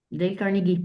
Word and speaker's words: Dale Carnegie: Dale Carnegie, sí.